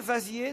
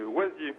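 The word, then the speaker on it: Waziers: Aurélie, vous allez affronter Vincent, qui est à Vasier, dans le Nord. Je ne sais pas comment on prononce. Bonjour, Vincent. Bonjour, oui, c'est Oisier. Oisier. En fait, hein.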